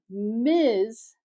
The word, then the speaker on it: Ms.: And so a new term miz was developed and it is equal to the mister.